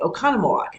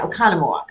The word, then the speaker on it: Oconomowoc: And as they're giving the weather, they would say Oconomowoc.